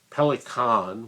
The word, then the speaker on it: Pelikan: If you enjoy this long conversation with myself about Pelikan, which is how you're supposed to pronounce it in the German pronunciation, please subscribe.